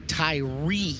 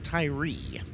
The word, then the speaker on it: Tyrie: Joshua Tyrie is the pronunciation on outside row number two. So, looks like the Australian version of tire it is Tyrie.